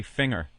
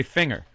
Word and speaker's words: finger: Some douche on the message board ragging me about the way I say finger, because I say finger, and he's from Seattle, and he goes, "Dude, it's a hard G, ass."